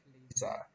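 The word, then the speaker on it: FLISR: It is pronounced as FLISA.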